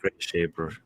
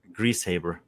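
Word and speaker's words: Griesshaber: It's actually not that how you pronounce his name. Oh, how do you pronounce it? Greasehaber.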